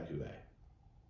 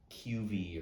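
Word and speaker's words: Cuvée: kuvin never had a Cuvee I didn't even know Coupe was a thing that's why I'd look it up and make sure we're not proud We Are pronouncing it correctly not QV or something maybe super fancy the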